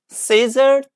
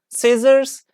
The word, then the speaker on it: scissors: pronounced like curve but most of the time they are pronounced like s like scintillating scissors ascends discerned muscle but